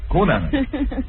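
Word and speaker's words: Cunanan: It is pronounced Coonanan. You say Coonanan.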